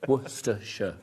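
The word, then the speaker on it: Worcestershire: Worershor. It's three syllables. You're putting an extra syllable. Worersha.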